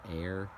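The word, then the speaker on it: Ayr: so this is a why are I'm gonna pronounce that air in 1879 Frank Reynolds and his family from Air Scotland settled on the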